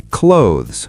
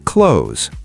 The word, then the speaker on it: clothes: Many people say clothes with two syllables, but native speakers say clothes, one syllable. The TH sound is very soft.